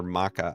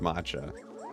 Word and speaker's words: matcha: Uh, but the matcha I I found I am a big fan of all the Japanese matcha treats or maca. I think it's pronounced matcha.